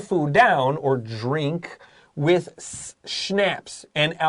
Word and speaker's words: schnapps: the food down 就是 drink 就是喝的意思他们会搭配什么东西来喝呢 with schnapps schnapps 然后老师这边特别的发音的时候它不是 snaps 它这个 s 是 s 它是发成 sh 的声音就很像是那个 Budapest 跟 Budapest好，他们的这个地方，它的发音其实是有点变化的。不管它这个东西呢是什么，逗号，an alcoholic Swedish drink，好，它是这种烈酒，而且是这种瑞典的烈酒。And dance to traditional songs，听着这种传统的歌谣，然后一边喝酒，感觉很欢乐的。